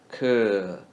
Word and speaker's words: 可: Ke is curve without RVE sound read in the third tone. Curve. Ke. Ke.